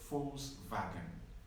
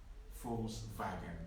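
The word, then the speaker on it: Volkswagen: deutsche or german is false wagon false wagon in in german v is pronounced like an f and w is pronounced like a v so false wagon v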